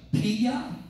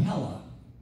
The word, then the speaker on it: Pella: place called p-e-l-l-a jordan you see the pia or pella i don't know i don't know how to say it i know that in spanish or latin two l's together is like a yeah but if i'm gonna say it like a yankee it's pella you know that's pretty much how you would say so they relocated